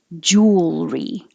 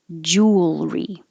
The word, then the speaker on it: jewelry: the airflow deer um it's not three syllables like it looks like jewelry it's two syllables jewelry jewelry these are unique because